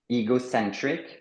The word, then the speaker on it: ego: synonyme egocentric ego donc le e il se prononce i ego donc égocentrique quelqu'un qui